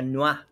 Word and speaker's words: noir: Noir se pronuncia Noir. Noir. Es francés, se supone.